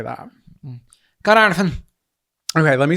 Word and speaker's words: Cynefin: Cynefin. Well, don't read the title, but I'm not gonna read the this word, that C word, I know the C word. How do you say that? Cynefin.